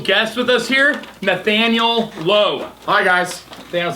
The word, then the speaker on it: Loe: Everybody wants to go low like the store or like Roblo.